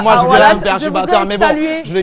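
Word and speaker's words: Oualas: Avant de passer à Wallace, je voudrais saluer je le kiffe.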